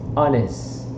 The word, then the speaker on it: honest: In fact, the word age here is not pronounced. So the correct pronunciation for this word is honest.